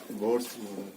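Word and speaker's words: Bohr: ठीक है, इसमें एच साइलेंट होता है, फिर भी किसी को मन करे खींच दीजिए, मन करे तो साइलेंट कर दीजिए। अगर एच को साइलेंट कर देंगे तो बोर पढ़ेंगे, अगर उसको साइलेंट नहीं करेंगे तो बोहर्स पढ़ेंगे, ठीक है।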